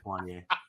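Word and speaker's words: Juanyeh Thomas: sure it's not one you sure it's not one yay just one yeah juanie just saying it's just one yay uh you you talked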